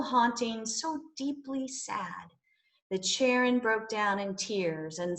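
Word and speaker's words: Charon: a boat person named haron or as she preferred to pronounce it sharon there was a rule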